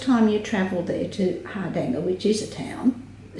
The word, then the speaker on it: Hardanger: And the correct way to say this is Hardanger. Hardanger. And we Australianised it to be Hardanger.